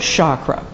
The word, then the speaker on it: chakra: it is from Sanskrit in which the letter c is often pronounced with a sh sound as I understand it